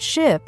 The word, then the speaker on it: ship: For example, words like ship and sheep. Many learners pronounce them the same, but ship has a short I sound, while sheep has a long I sound.